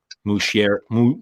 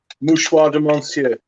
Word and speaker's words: Mouchoir de Monsieur: So I ordered a bottle of each, a Pré Leonde and Mouchier. How do you say? Mouchoir de Monsieur. There you go.